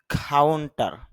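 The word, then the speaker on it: counter: আর শুরুতে যেহেতু খ সাউন্ড আছে, অর্থাৎ সিটা এখানে কর মতো হচ্ছে, আর কটা এসপিরেশন হয়, এই কারণে হবে খা। তাহলে উচ্চারণটা হবে কাউন্টার।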